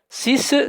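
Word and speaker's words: six: 6 s'écrit avec un X à la fin qui se prononce S.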